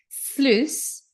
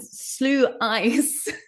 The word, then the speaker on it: sluice: But anyway, but for some reason I pronounce it slew eyes, but it's like juice. You see the word juice, Juice. Well, here it's written the same. So except that at the beginning it starts with Sluice.